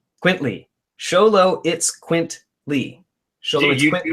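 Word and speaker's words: Xoloitzcuintle: that and so I'm going to try this sholo it's quinty quintly sholo it's quintly sholo you how to pronounce that yes scholo it's quinty so it's yeah that's there it is scholo it's quintly mexic hairless dog so just call it sholo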